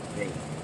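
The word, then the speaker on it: Vage: And that's how it's spelled. V-A-G-E. Vague.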